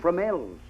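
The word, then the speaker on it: Fromelles: Tell me, Burton, how do you pronounce the name of that place you were billeted in? Oh, Fromel's.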